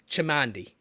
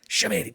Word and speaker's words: Chamandy: Chamandy. Damn it. I knew it. No, it's not, because it starts with CH, right? It's not intuitive to know that should be pronounced like an SH.